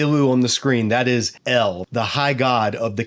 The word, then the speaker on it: El: translation we're going to be using it's spelled phonetically as ilu so when you see U on the screen that is L the high god of the Canaanite Pantheon now